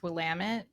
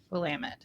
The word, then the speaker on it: Willamette: a Colleen Clemens Pino Noir 2021 from the Willamit Valley in Oregon. In case you didn't know, it is pronounced Wamut rhymes with Damitut. Wamut.